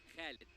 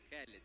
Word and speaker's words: Khalid: Actually, my name, my real name, it is Khalid. Khalid. Yeah. Okay, so that's how we pronounce it.